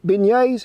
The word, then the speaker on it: beignets: me one of them Beignets is how you say a shin yeah was